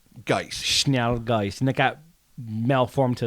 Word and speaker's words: Schnellgeist: I am not an expert at all on any pronunciation of even the English language, as has been well established, but I think it's Schnellgeist. Schnallgeist.